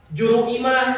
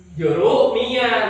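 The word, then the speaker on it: Jurumiyah: Juru imah cenah. Padahal yang benar apa, Dit? Juruniah.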